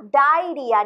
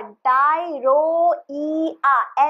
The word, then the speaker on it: diarrhoea: डायरिया, DIARR, डायरोइया, ऐसे आप pronounce करके लिखेंगे सिर्फ लिखने की टाइम पे, और अदरवाइज प्रोनाउंस होगा डायरिया, ओके।